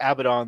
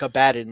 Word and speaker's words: Abaddon: He's Abaddon, and that's why the voice actors pronounce it that way, like Abaddon, like a bad guy.